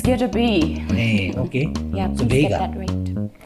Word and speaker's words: Goedra Bey Yi: Gedabei or Gedamabe? It's Gedabei.